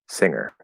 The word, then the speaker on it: singer: barry let's see singer okay singer yeah so there's it says there's no g there there's no good it's